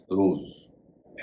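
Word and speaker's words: rose: पहला शब्द है आर ओ एस सी रोज एस बीच में है लेकिन अंत में है उसके बाद इ है।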